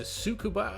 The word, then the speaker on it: Tsukuba: Skippy racing at uh sukua I believe it's pronounced it's got a silent T in there um yeah it's a